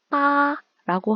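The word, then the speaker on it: 八: 8은 중국어 발음으로 빠라고 하는데 중국어에 돈을 벌다에서 벌다에 해당하는 표현이요. 파입니다. 8은 빠, 벌다는 파, 발음이 비슷하죠.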